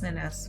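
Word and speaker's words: nenes: This is the sticking point, that the E's in Catalan are pronounced like A's. I know this. I forget. So it's ellas son las nenas with the ES.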